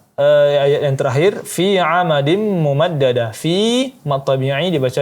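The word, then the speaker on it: مُمَدَّدَة: 2 harakat, kemudian amadim mumaddada, tanwin bertemu dengan mim, maka hukumnya idgham bi gunnah, digunahkan lagi selama 3 sampai 4 harakat. Kemudian mumaddada dijelaskan tasydidnya mumaddada, ya begitu cara membacanya.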